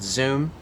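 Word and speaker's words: Xoom: And after that, I became the CEO of a global payments service called Zoom. Zoom spelled with an X, not the Zoom that we all used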